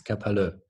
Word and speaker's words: kapalı: to pronounce too well, but it's kapalı, but it's just it's like an I without the dot.